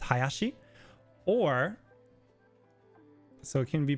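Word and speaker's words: 林: So the kanji for tree but twice is pronounced hayashi or so it can be pronounced hayashi or ding ding.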